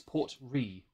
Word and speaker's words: Ruighe: Looked up the pronunciation on YouTube, on Google. It's Port Ruighe.